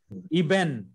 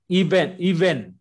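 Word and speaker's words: אבן: Iben.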